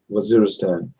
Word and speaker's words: Waziristan: How do you pronounce that? Waziristan.